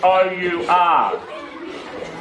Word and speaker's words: our: Can you hear the two syllables? Our. That have been blended into a diphthong, which is a syllable, a word, and a vowel sound.